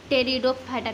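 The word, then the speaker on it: Pteridophyta: हम लोग गैलप हटा थल फाइट आफ ब्रायोफाइटा टेरिडोफाइटा ठीक है कि टो गिव स्पेसस इन प्रकार का होता है जिसको हम लोग गैर थैलोफाइटा ब्रायोफाइटा टेरिडोफाइटा करते हैं यहां पर तेरी खट्टा होता है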